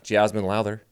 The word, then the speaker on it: Jazmine Lowther: And right out of Canada, Jazmine Lowther.